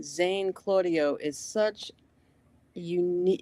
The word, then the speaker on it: Claudio: Uh you can pronounce it Claudio or as the Italians say Claudio. Um so you could really say it however you'd like.